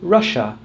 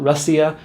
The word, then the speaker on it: Russia: Same is true for Russia, Malaysia, or Indonesia. Not Russia, not Indonesia, and not Malaysia.